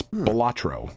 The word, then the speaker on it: Balatro: It's Balatro.